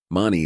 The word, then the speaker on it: Mani: beginning and the end Mani is pronounced as in mama and Padme as Papa and me hum is another form of om and rhymes with it a rough translation would